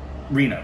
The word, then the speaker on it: Rima: And then, so, like, 15 different hats being worn just by Rima, right? Is that how you pronounce it?